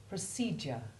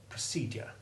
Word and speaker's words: procedure: nature listen again to the alternative pronunciations procedure procedure i prefer to hear the basic d sound procedure but you choose for